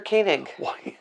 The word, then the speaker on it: Koenig: Walter Koenig. That's how you pronounce it.